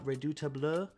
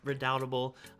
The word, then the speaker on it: Redoubtable: from them including uh redutable as i pronounced it um which is redoubtable my favorite foursquare release